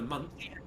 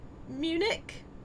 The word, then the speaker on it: Munich: I can go to Munch. It should. I think you mean Munich.